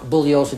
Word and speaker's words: Bugliosi: is pronounced Bugliosi. The G is silent.